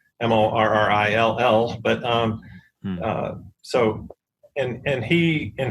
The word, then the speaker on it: Morrill: eloquent and as Justin Morrill, who was a congressman who has the kind of named after, the land-grant system was named after, which I love. It's not spelled moral, but it's a Morrill.